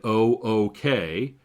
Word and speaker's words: OOK: off keying which is abbreviated o o k sometimes perhaps commonly pronounced ook now ook sounds a